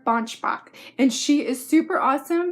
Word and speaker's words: Banschbach: the series it's by Claire Bosch Mach I hope I'm saying that right yes it's Claire bunch Bach and she is super